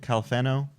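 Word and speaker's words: Califano: Calfano, is that how you pronounce it? Calfano? Yes, so.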